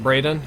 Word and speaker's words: Braden: Braden dropped 150, says, since you probably never said the spelling is pronounced Braden.